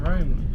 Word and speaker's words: Rome: actually called Rome. Rome. It rhymes with- Just like home.